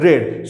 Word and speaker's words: read: The spelling is same, but it is pronounced as read.